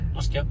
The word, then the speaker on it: Askja: Do you pronounce it like that? Askja.